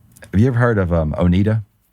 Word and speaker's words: Oneida: Have you ever heard of Oneida? Oneida? It's a silverware manufacturer. Or I've always heard it pronounced Oneida.